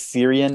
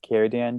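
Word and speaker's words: Círdan: just random elf who i think is syrian i think that's how you pronounce no sir sir dan kierdan i was gonna say it would be with it if it if it's a seeds with a heart like so it's keradan kyodan sure v-i-r-d-a-n i think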